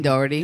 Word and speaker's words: Doherty: And Shannon Doherty.